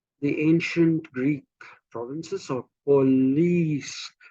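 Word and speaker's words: poleis: ancient Greek provinces are police p-o-l-e-i-s pronounced police or did any of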